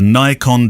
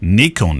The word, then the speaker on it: Nikon: brick known as the Nikon D750. Gunnar, you know since listening to this show that it's not pronounced like that. Nikon is the Nikon D750